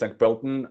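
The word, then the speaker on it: Sankt Pölten: or seven years before you moved on to Pton. Is that how it's pronounced? Yes. S Bton.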